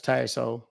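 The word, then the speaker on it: Tassohl: SS o h l let pronounce tyo it's French so yeah I've never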